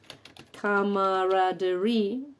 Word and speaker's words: camaraderie: Bueno, es una palabra que tiene dos acentos. Eso, por ejemplo, no puede suceder en español. ¿Vale? Y sería algo así. Camaraderie.